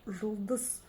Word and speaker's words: Жұлдыз: Чтобы ее прочитать, нужно за основу взять букву «О» обыкновенную. Но прочитать ее очень и очень коротко. О, О, О, Ж, Ж, Ж, Жұлдыз, Жұлдыз, Жұлдыз.